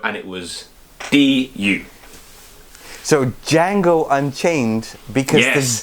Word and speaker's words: Django: So Django Unchained, because Yes. the D is silent.